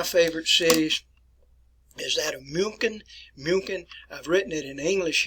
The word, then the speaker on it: München: We have corrupted the word in English and we spell it as Munich. The proper name is München.